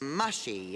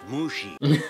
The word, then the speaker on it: Mushi: roll back into place mushy is it it's pronounced Mushi okay change names but